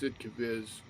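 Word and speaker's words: Sd.Kfz.: sidiz 2318 R and yes SD kfz is pronounced sidiz fight me um scalla no it's uh no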